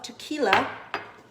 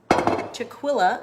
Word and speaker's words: tequila: there's a shot of tequila or chick Willa as people who can't pronounce it like to say then we are gonna